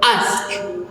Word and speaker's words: ask: target word is ask the standard pronunciation is ask. ask ok so let's compare them so the target pronunciation ask the actual pronunciation is ask so we can hear that the pronunciation omitted the sound k at the end of the word so let's identifying the